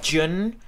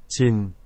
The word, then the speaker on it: Jin: member that we're going to be seeing is Jun. We're going to be watching The Astronaut, which is an original song from him. Did I pronounce it all right? Jin.